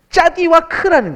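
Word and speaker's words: צדיק: 뭐였더라 아 그래 달리시죠 짜디 크 짜디 크 짜디 크라고 하면은 의인이란 뜻이에요 의인 짜디 크 근데이 짜디 크는 재밌는 합성인데 짜디 그러니까 요거를 짜디 그러거든요요 발음을 요렇게 발음해요 짜디 크라는 거예요 근데 히브리어 알파벳을 보면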